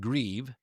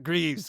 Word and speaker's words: Grieve: I think he's like, "It's Griev, not Greavves. Griev.